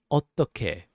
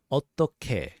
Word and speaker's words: 어떻게: 어떻게. Now, this one does have the 상디귿, which is the double D sound. We just have to stress it.